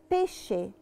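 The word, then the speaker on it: pesce: زحليقه المثال اللي بعده او القاعده اللي وراها ان انا لو جيت للعتره قسم وراها للعطر ايه ايه ايه بتتنطق شي زي كلمه بيشه بيشه يعني سمك بتتنطق بالظبط زي حرف الشين في العربي نعيد بسرعه التشي دولتشي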